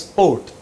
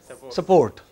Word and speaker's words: sport: Yeah, they don't pronounce sport as sport. They pronounce it as support.